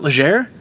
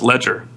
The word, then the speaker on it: Legere: Oh, it's not Legere? No, it's Ledger. Oh, Ledger. No kidding. Yeah, he tweeted because he said it was something like, he said the pronunciation of my last name is Ledger, sort of like AT&T is about to jump off the ledge.